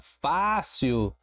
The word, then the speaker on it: fácil: O mesmo ocorre com a palavra fácil. Olha lá a separação. Fácil. Eu tenho uma paroxítona por ser a penúltima palavra, a penúltima sílaba tônica, ser a sílaba forte, e ela termina em L.